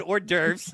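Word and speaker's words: hors d'oeuvres: You can win a car, $50 VIP entry, and you're going to get orurves and a drink. Yeah, I said orderves. I pronounced it right, y'all.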